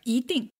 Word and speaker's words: 一定: Here, you hear me saying 一定, 一定. I didn't say 一定, but 一定. It's because this character, 一, simple as it is, the pronunciation have some variety. Yes. So 定 is fourth tone. So when E is used before a fourth tone, then you change it to second tone. 一定.